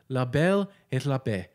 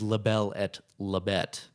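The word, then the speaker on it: la belle et la bête: french as i'll go i do think it is labelle at labette i i don't think you have to you don't you don't pronounce hard teas in french okay you know what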